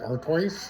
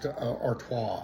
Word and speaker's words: Artois: Arttois. Yeah, I couldn't pronounce it yesterday. I was like Artoice I don't know but it was yes Artois.